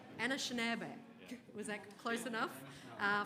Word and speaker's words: Anishinaabe: Nations and I apologize grae I didn't check pronunciation first so I'll get you to say the next word Anna shab Anna shab was that close enough uh from the great